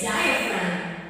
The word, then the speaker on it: diaphragm: diaphragm what's a diaphrag not diaphragm it's diaphragm and it is pronounced as di FR this is a muscle